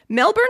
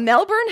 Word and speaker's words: Melbourne: victoria ewan cowieson said melbourne can sound a bit like melbourne to non-aussies but if you listen carefully they actually are pronouncing the hour in there it's just quite soft if you were to